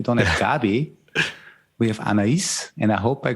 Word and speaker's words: Anais: We have Anais, and I hope I correctly pronounced it somehow. Yes, Anais.